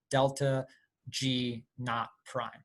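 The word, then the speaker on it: ΔG°′: the delta not prime that's how you uh pronounce that delta g not prime and it's just a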